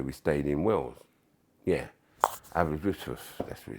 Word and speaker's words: Aberystwyth: Yeah, Aberystwyth, that's what it's called, pronounced.